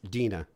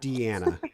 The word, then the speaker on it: Deana: Yeah, but so people know it's pronounced Deana. It's Deana. My mom just wanted to make it difficult Yeah, by throwing an extra A in there. Yeah, it's not Deana. So it's Deana, like Dean, Dean.